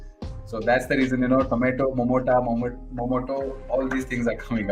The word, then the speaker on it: Momota: Our rockstar is saying tomato and potato both rhyme with Momoto.